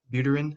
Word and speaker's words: Buterin: what's his name vitalik brutrin how do you say his name cameron it's not like uterine buterin yeah he basically is